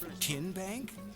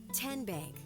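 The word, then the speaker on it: TNBank: TN Bank? No. Tin Bank. Uhuh. So what is it? Tenbank. 10 as in Tennessee.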